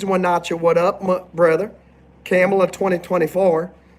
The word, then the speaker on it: Kamala: how you spell her name it's how it's pronounced it's camela camela Harris we have Alexandria and I believe the